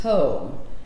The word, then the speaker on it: Pau: the scent mateu p-a-u pronounced poe but this is goat